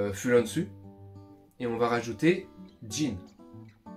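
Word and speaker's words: 人: On reprend le mot du pays, donc Fulanzu, et on va rajouter jin. J-I-N en romaji, voilà, ça se prononce Jin, et on le rajoute à la fin.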